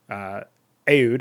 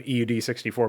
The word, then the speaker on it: Aud: seeing were Krankendau, Ecalypso, Aud, as I came to find out was the pronunciation. I kept calling him EUD64, but Aud64, and Hit 'em Up.